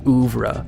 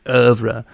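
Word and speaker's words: oeuvre: critic a film profession you say they're over up or they're over up if you want to even be more professional because I think the French pronunciation is over but you say like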